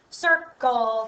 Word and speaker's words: circle: And then we have a hard C. And it all ends with an LE, just like turtle. Circle, turtle. Okay? Circle. Soft C, hard C.